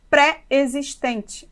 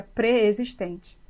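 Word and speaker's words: preexistente: Por exemplo, temos mania de falarmos pré-existente, mas a palavra se escreve junto e a pronúncia seria pré-existente.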